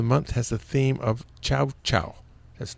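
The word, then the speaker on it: ciao: has a theme of Chow Chow. That's not a dog. The first chow is spelled C-I-A-O as an Italian word for goodbye or something like that.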